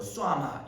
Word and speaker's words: 쉐마: 원래 히브리어의 원어에 가까운 발음은 뭐 쏴마 이렇게 발음한다고 하는데 우리가 보통 그냥 쉐마 하니까 그러니까 쉐마 들어라.